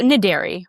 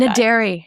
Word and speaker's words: Naderi: Is that pronounced Naderi? Yeah, well, Naderi. We'll go with Naderi. that. Naderi. It's E-R-I. It's Farsi? Persian.